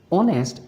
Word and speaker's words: honest: Because honest begins with a vowel sound. O, honest with H being silent and O being the first vowel sound to pronounce.